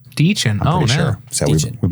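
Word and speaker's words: Dichen: You know, by the way, her name is pronounced Deechin. Deechin.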